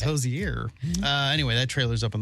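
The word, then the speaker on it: Hozier: Pronounced Hosier. Yeah, I think it's Hosier.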